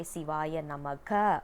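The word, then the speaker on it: சிவாய நம: One thing we need to understand here is, we should not say Sivaya Namaha, because according to Sanskrit, ha simply means a full stop.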